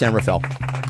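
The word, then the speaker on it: San Rafael: here, uh sends two San Rafll uh residents. And by the way, kids, if you if you're not from there, it's Sanfell, which is how they pronounce it.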